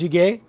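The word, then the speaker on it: jjigae: korean dish kimchi soup or kimchi stew it's pronounced shige and basically it's like beef broth homemade kimchi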